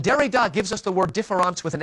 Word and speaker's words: différance: Well, when Derrida gives us the word différance with an A, you see, différance with an E or différance with an A are pronounced exactly the same in French.